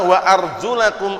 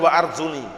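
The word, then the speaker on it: وَأَرْجُلَكُمْ: Liqui taala dikarenakan perkataan Allah Taala wa arjulakum ilal ka'bain. Bacanya jangan keliru. Arjula bukan wa Arjuni. Kalau bacanya wa Arjuni itu bacaan Syiah Rofidah yang artinya nanti diikutkan mengusap.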